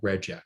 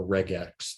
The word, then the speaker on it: regex: What we're doing here is we're taking advantage of a feature called regex, or regex, depending on how you pronounce it.